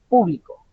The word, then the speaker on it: público: personas de por si ustedes verán escrita la palabra con una tilde en la o haciendo inclusiva alusión a que la fuerza tónica o el acento tónico está en la primera en la primera sílaba público cuando la lean de